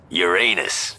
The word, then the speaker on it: Uranus: Besides, the proper pronunciation is Uranus. It's a dactyl.